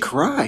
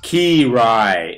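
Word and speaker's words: Kiraly: Cry. What the? Why are you here? And why are you wearing such short pants? It's pronounced Ki-Rai, and I'm the legend of volleyball past.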